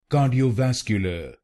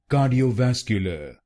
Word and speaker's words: cardiovascular: Ka d o vasque l then it will become cardiovascular cardiovascular and in this word you have to put stress on the fourth syllable cardiovascular cardiovascular now you know the correct pronunciation of this word.